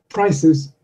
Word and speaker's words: prices: the new vowel sound prices prices prices prizes I'm wondering if you've noticed that the vowel sound is shortened slightly before the unvoiced consonant it's called vowel sound